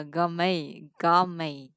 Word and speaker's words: gourmet: Mình gọi là gourmet ha. Nhìn thì viết là mẹ nhưng đọc là mày.